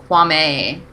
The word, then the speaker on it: Kwame: name wrong. It's Kwame.